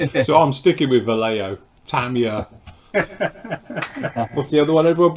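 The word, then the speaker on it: Tamiya: Yeah, but he probably says Tamaya, and it's Tamia.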